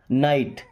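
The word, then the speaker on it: night: Silent है जी एच नाइट। एन आई जी एच टी यहां भी साइलेंट है।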